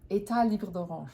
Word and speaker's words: Etat Libre d'Orange: Etat Libre d'Orange.